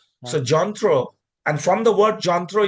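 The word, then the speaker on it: যন্ত্র: reside now it all means the same thing Jontthro so the pronunciation is Jontthro which is written in English as a yantra but otherwise the pronunciation is jantro. So jantro and from the word jantro it becomes jantra na.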